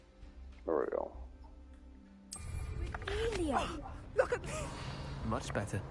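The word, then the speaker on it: Revelio: You're Rebellious. saying it wrong. There we go. Revelia.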